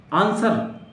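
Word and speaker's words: answer: W कहाँ नहीं पता है, आंसर, ANS, W का कोई यूज नहीं है यहाँ पे। डब्ल्यू नहीं बोला जाता है, आंसर, आंसर, आंसर। आर भी नहीं पढ़ते हैं, जानते हैं आप, आर लास्ट में होता है, आर कहीं भी होता है, नहीं पढ़ा जाता। तो आंसर, न डब्ल्यू पढ़ेंगे ना आर पढ़ेंगे, आंसर, दिस इज माई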